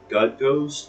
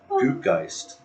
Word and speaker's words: Gutt Ghost: we also learned that gut ghost we've been mispronouncing it this whole time goist so funny goist yeah